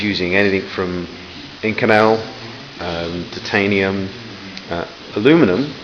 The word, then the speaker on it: aluminum: Now he's using anything from Inconel, titanium, aluminum, which I thought was aluminium, I'll say it right.